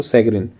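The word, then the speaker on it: chagrin: सैगरिन बोलते हैं इसको, सैगरिन। तो प्रोनाउंसिएशन इसका होगा सैगरिन, सैगरिन ऑफ 25,000 फार्मर्स,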